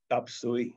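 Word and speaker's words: 雜碎: is i'm eating and the phrase they use is tapsui which means chop suey okay it's the same thing chinese pronunciation and the literal translation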